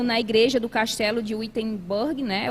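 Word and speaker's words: Wittenberg: igreja do Castelo de witenberg né ou vintem Burg como algumas pessoas também pronunciam e Imagine como isso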